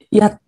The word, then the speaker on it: 日本: So 日本 is a low tone and then rising tone. 日本 if you realize the 日 is the one with in 星期日 also.